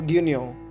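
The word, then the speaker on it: 牛乳: গিউনিয় gonio মানে দুধ উচ্চারণ হবে গিউনিয় মানে দুধ বাংলা ভাষায়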